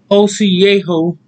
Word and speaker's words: Osiejo: Hello, as I say, Osiejo is the correct way to say it.